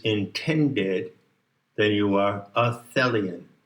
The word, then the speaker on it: Thelian: And if you recognize and dwell in that which is intended, then you are a Thelian. Rhymes with Hellion, which means basically that